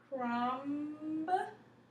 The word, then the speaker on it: crumb: right after it from crumb remember we're going to take that v off because it's silent crumb very good me